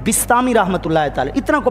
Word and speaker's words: بسطامی: کا صحیح تلفظ ہے، صحیح تلفظ با کے نیچے زیر ہے۔ حضرت بایزید بسطامی رحمۃ اللہ تعالی، اتنا